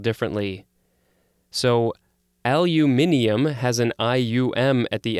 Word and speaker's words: aluminium: oxide next we have what i would say is aluminum but it actually in the pronunciation guide has the british version which is aluminium i always thought they said aluminium but it actually is aluminium yes this is a